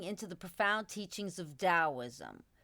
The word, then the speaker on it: Daoism: the profound teachings of Daoism, pronounced Taoism in the West.